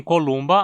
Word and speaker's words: Columba: pombo-doméstico columba Lívia doméstica em columba a penúltima sílaba Lu terminar em consoante e precisa levar o acento columba significa simplesmente pombo